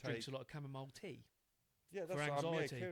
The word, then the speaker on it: chamomile: Chamomile. Chamomile. Is that what is it? Chamomile. Is that how you say it? Yeah, Chamomile. chamomile.